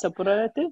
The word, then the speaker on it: superlative: How you pronounce superlative? Like it's like super, but it's superlative.